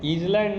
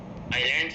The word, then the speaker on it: isle: इस आइलैंड को शॉर्ट में आइल लिखा जाता है, ISLE, इसको पढ़ते हैं आइल, इसको ईजल नहीं पढ़िएगा, दिस इज रीड आइल, और मीनिंग दोनों का एक ही होता है, ठीक है।